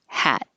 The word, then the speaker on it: hat: a little shorter so number 11 would be a little shorter hat and number 12 will be a little longer had why because with the